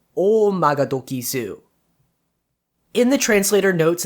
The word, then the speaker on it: Oumagadoki: telling time in japan the word omagadoki which is usually pronounced as o magatoki toki meaning time in japanese means something like the